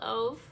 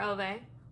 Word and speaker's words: Ove: I need to look up how to pronounce her last name correctly. Firefly Lane by Chris and Hannah. A Man Called Ove, or Ove, by Frederick Bachman.